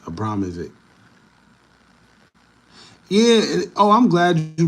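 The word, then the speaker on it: Abramović: know it's Marina Abramovic Abramovic no Abramovic that's how you say it Abramovic yeah oh I'm glad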